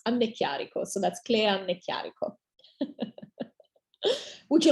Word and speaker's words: Anneecchiarico: audience today and my uh last name is pronounced amne chiariko so that's clear would you like me to